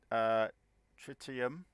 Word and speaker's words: tritium: 700,000 units that's going to help so much tritium that's how you say it is for my